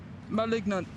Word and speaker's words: malignant: Like ma in mama, lig in ligma without the ma, and nant, but say it like not with an sound at the beginning of it.